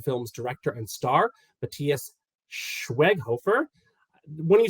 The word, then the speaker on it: Schweighöfer: well as the film's director and star, Matthias Schweighöfer. When you said I pronounced it well the other time, now it just got in my head, and I was like, I really have to do it again. Schweighöfer.